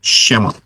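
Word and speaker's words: שמות: Bacanya dari kanan ya, Shemot.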